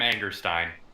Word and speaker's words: Angerstein: at the nine of adam angerstein or ingerstein or how do you say josh it's adam angerstein okay so it is stein okay i know you